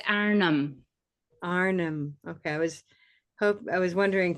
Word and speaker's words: Arnhem: It's Arnhem.